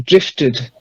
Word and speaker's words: drifted: Then this one, you actually voice the E. Drifted.